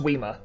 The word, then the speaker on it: Whismur: I said Whismur, I apologize, it's pronounced Weema.